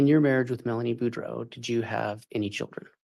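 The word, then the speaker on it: Boudreaux: morning morning can you state your name and spell it for the record my name is budro b r a n d o n budro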